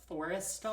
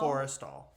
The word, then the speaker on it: Forrestal: Forrestal? Forrestal.